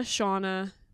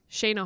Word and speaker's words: Shana: Typically, my name does have extra letters in it to That's what's up. to indicate that it is pronounced the way that it is, like a Y or an I. But my parents weren't buying any extra vowels.